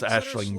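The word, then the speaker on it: Aisling: Um yeah, her name's spelled Aling, but it's pronounced Ashling B.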